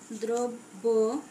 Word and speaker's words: দ্রব্য: আবার দ্রব্য লিখতে পারি, উচ্চারণ লিখলাম দ্রব্য, ইত্যাদি। দেখো শব্দের প্রথমে অযুক্ত রফলা থাকলে সেক্ষেত্রেও আদ্য অয়ের উচ্চারণ সাধারণত ওকার হয়ে থাকে।